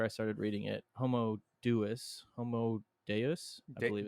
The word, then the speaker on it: Deus: Homo Deus, I believe it's pronounced actually. Deus.